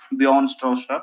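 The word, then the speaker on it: Bjarne Stroustrup: Basically, you pronounce, basically people pronounce from European side as Bjorn Stroustrup.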